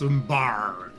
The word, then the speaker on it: Umbar: we pronounce it with the R. So for us, it's umbar.